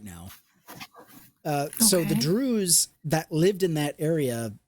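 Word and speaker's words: Druze: How do you pronounce Drews? Let's see. Oh, it is. I was saying it correctly. Drews. D R O. Yeah, I thought like saying choose.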